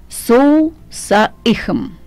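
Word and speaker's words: SOHM: сейчас правильно попытаюсь произнести, Соусаихм. То есть пишется он S-O-H-M, Сохом, я бы произнесла. На каком языке? Ну, я так понимаю, по-английски пишется S-O-H-M. Uh-huh. Но произносится, как он написал, «Соусаихм».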